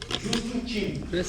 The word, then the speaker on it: Just-in-Time: O sistema Just-in-Time, adotado pelo toyotismo, eu quero que você grife aí esse sistema Just-in-Time.